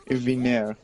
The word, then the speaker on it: Vigner: Vigner. Vigner. No G, the G is silent.